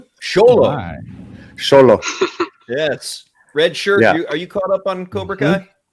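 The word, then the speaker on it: Xolo: I was mispronouncing the actor's name. Sholo.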